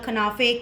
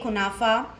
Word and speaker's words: kunafa: Okay, there are different pronunciations for these. These are called kanafe, kunafa.